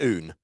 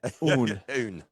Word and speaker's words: Aon: So it's pronounced Oon. So it's like a sort of a Scotsman saying one in French. So that's how you. It's AON. Oon. Oon. I would be like Aeon.